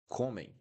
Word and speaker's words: comem: So, comem. The tricky here that you need to do, you need to close your mouth at the end of the pronunciation.